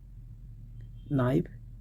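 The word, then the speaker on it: know: Okay, here is के is silent letter, okay, in नो, एंड के silent in not. Connaught नहीं पढ़ा जाएगा, कुनो नहीं पढ़ा जाएगा, कनाइफ नहीं पढ़ा जाएगा, कैनी नहीं पढ़ा जाएगा। You will tell नी, knife, not, नो।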